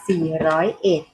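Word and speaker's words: สี่ร้อยเอ็ด: เสียง ว่า มี เงิน เรา ไม่ อ่าน ว่า 401 อ่าน ว่า 4 ร้อยเอ็ด อ่ะ ตัว แรก เลข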